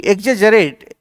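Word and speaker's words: exaggerate: इसका मतलब एग्जरेट देखिए इसको उच्चारण इसका प्रोनंसिएशन सही किया कीजिए। ई एक्स A double ji double जी नहीं इसको जी पढ़ा जाता है। ई एक्स ए जी जी ई आर ए टी ई एकजेट मतलब किसी चीज को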